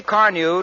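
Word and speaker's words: Carnu: You see, Car New does not one, but 2 jobs at once.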